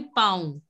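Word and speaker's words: pont: So it will be pound. Pound. You don't have to pronounce the last N. It has to be the nasal sound.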